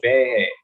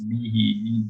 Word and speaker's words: Behe: We've been going, it's George Behe, but it's Behe. He actually pronounced it for everyone in that particular Zoom.